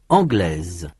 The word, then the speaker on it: anglais: In the masculine, the final s is not pronounced.